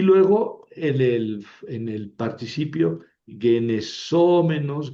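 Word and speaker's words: γενησόμενος: Ojo porque en el menos, mene, menon, en la terminación, el masculino y el neutro llevan el acento en la antepenúltima, genesómenos, genesómenon. En cambio, el femenino tiene el acento en la penúltima, es una paroxítona.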